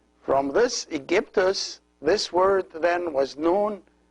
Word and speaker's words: Aegyptus: the year 332 BC, they could not pronounce this word as the Egyptians used to pronounce it, and they pronounce it in a Greek accent, so they pronounce it Aegyptus. Aegyptus. They changed the K into G, and they added at the end of the word the OS, which is the Greek ending of the names.